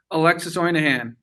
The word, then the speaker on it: Alexis Ohanian: Alexis Ohanian.